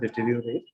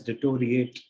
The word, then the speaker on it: deteriorate: Deteriorate prakar, we can take what deteriorate, which is often pronounced as by many people as deteriorate, but if you see the spelling, it starts with D-E-T-E, that means ditty and then rio, so it's deteriorate.